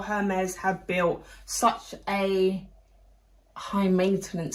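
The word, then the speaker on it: Hermès: I was about to say Hermes, but it is Hermes. Um Hermes with an E, a silent e that they just didn't want to put on there.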